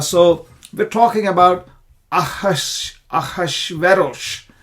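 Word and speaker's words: אחשורוש: we're talking about aash aash veros that's how it is pronounced in the Hebrew it is translated as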